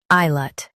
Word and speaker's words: islet: I, lut, ISLET. Stress I and keep lut light.